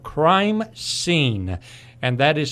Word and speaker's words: Crimeseen: Paul is with Edmunds Security, Inc., but more interestingly for our listeners today, he has developed a website called Crimeseen, and that is spelled S-E-E-N.